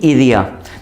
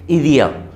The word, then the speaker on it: idea: I have no आइडिया, नो तेंगो नी इदिया। देखो, ये आइडिया same spelling है लेकिन बोलेंगे हम इसे इदिया, इदिया।